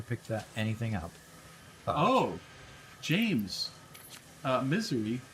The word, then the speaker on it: Missouri: Missouri. Now, Missouri is pronounced misery for a reason.